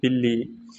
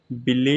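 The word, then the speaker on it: بلی: B in this is called in Udu the pronunciation is Billy so in in Roman the like this for your easiness like Billy bil Billy so this is for your easy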